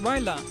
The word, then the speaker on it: Rila: name is clearly european her name is spelled rila but is pronounced ryla her last name means